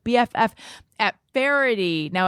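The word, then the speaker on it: Faherty: that's called bff at farity now it might be spelled different than you're imagining so i'm going to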